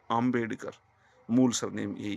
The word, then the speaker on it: आम्बेडकर: ऐसे ही doctor B R. Ambedkar बोलते हैं ना, वो इंग्लिश में लिखते हैं। उनका जो सरनेम है वो आम्बेडकर है, आ है, ए नहीं है, आम्बेडकर, मूल सरनेम यही है।